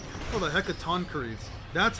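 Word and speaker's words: Hecatoncheires: Oh, the Hecatonies. That's how you pronounce it.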